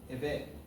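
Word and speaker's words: עבד: So if you watch this, Karen, okay, I still remember that's the correct way to pronounce the word eved.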